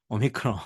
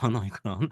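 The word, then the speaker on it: omicron: 우리가 많이 얘기를 했죠 지금 아 맞습니다 예 오미크론 오미크론 맞아요 자 그래서 우리가 헬라는 그리스는 지금도 여러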